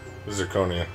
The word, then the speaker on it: zirconia: about that though okay that's like that mispronounced it's actually zirconia yeah zoconia yeah man